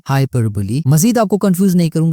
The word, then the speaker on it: hyperbole: हाइपरबोली क्या चीज है? ये हाइपरबोल नहीं है, ये प्रोनाउंसिएशन इसकी समझ लें, हाइपरबोली। हाइपरबोली is an exaggerated statement not meant to be taken literally।